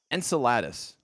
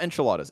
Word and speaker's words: Enceladus: here right but uh enceladus the ocean moon no no no no not enchiladas enceladus the ocean moon of saturn have you